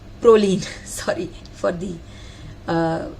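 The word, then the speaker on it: Prolene: so there is one distinct advantage of the chlorine Proline sorry for the uh mispronunciation so when swelling happens Proline will stretch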